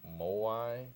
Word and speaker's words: moai: project but one of them is a walking more why is that how you pronounce it yeah can you tell us what